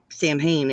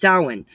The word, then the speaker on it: Samhain: I'm pronouncing it wrong. That's not how you pronounce it, Samhain. It's pronounced Samhain.